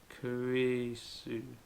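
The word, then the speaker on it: クリス: And as katakana and hiragana is mainly made up of 2-letter syllables, you will need ku, ri, and su to make krisu, krisu.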